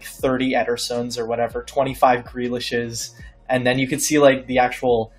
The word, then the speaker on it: Ederson: Yederson. Oh, yes. Speaking of... sorry, Antwan, that was like a three in terms of pronunciation. I tried. Ederson. Ederson.